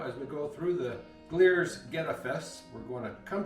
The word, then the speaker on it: Glier's: Now during the video, I think I've been calling the festival Glier's and Glier's, so I looked it up and the correct pronunciation is Glier's.